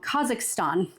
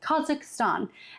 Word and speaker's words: Kazakhstan: that is in a country that I'm always mispronouncing and it's um Kazakhstan. Kazakhstan and that is where in that that is